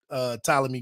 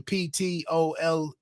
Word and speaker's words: Ptolemy: But it's just a shortening of his name with the Ptolemy. Sometimes the P is silent, but that's where pity for PT, for that PT in his name.